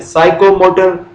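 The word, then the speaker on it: psychomotor: जैसे उसने कहा था कॉग्निटिव एक डोमेन है लर्निंग की, इसी तरह से साइकोमोटर एक डोमेन है, PSYCHROMOTOR साइकोमोटर, उसमें भी P साइलेंट है इसीलिए हम उसे साइकोमोटर।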